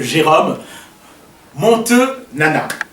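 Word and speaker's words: Jérôme Monteu Nana: Nous recevons aujourd'hui l'ingénieur, monsieur Jérôme Montenana. Voilà, j'espère qu'on a bien écorché le nom et que c'est une bonne prononciation.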